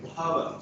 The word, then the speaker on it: Bhava: Okay, so Bhava Vidya, Bhava, so that's how it is pronounced. H-B-H, Bhava, because it's a Sanskrit name.